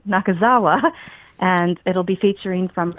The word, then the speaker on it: Nakazawa: um as well as an art show by Mumi Nakawaza and I'm sorry I said her name wrong again, Mumi Nakazawa.